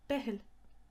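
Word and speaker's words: Beithil: last word came from the irish for bethlehem behel christmas tree is cron nolog crown no look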